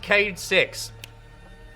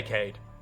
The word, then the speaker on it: Cayde-6: yeah you're gonna die it's pronounced cayde-6 Bishop nose coyote kad just say Kade okay okay spike asaurus